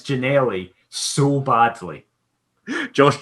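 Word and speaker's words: Ginnelly: I mean, you've got the G and the Y. Like, you've got the start and end. It's got the gin. It's literally that middle nail. That's all that's missing.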